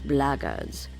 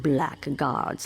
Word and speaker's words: blackguards: another one of those blaggards and that's the way to pronounce it not blackguards like that thug insisted it was then my answer is